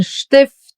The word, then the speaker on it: Stift: And in the combination with the letter P, it gets pronounced as Shpa. Like in Stift, Stuhl, Sprechen, or Strasse.